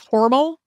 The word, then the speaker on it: Hormel: name was originally pronounced horal to rhyme with normal and it's not totally clear when horal became Hormel um because we've both been saying hormell all our lives and